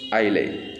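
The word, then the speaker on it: isle: ऑन द गंगाज greenest आइले। आइले है इसलिए नहीं है क्योंकि ये साइलेंट है इसमें।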